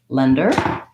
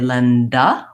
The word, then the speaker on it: lender: just briefly say that lender has also has first syllable stress long short and it has vowel a lender and we're just going to watch out to not have to not to say Linda when I have an